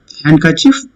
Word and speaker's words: handkerchief: Handkerchief. Tell me which is the word. Handkerchief. D is silent. Hand, it's not handkerchief. This is handkerchief.